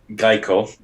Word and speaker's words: Kaico: And the company is called Geico, not Gecko, the car insurance. No. It's Geico. It's spelled Kaico.